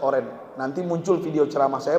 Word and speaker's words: Orange: Bukan Orangi. Orangi beda, itu Belanda. Van Basten nama Garut Gulit, udah pulang kampung ya? Ya. Orangi dibacanya Ustadz Oren.